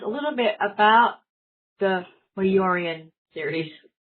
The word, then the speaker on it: Mejurian: You know, until now I pronounced the J when I would read it.